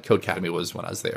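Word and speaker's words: Codecademy: employee first of all I appreciate you pronouncing code academy correctly there's no a in the middle that gets a of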